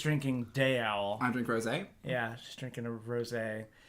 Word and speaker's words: rosé: Going to pretend I know what rosy is. It's a pink wine. Yeah. Rosé. Yeah, it's spelled like rose, but there's an accent on the E.